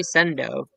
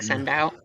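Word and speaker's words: Sendou: I say I try to say sendo because I know it's pronounced sendo but when I first started reading it I was saying send out and so when I'm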